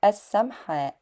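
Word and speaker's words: السمحاء: And I think the printed word is correctly pronounced as as-Samha', and it is said as as-Sharia as-Samha'.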